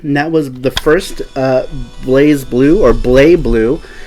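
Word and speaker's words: BlazBlue: that was the first Blaze Blue, or Blay Blue. In Japan, it looks like they pronounce it Blay Blue.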